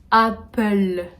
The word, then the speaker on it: Apple: burger king en troisième on aura apple a très ouverts vraiment le à français à hull apple oui alors je suis pas du tout la même prononciation que vous vous connaissez